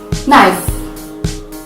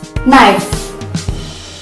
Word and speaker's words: knife: It happens when the letter K is followed by the letter N in the beginning of a word, and thus the K is not pronounced.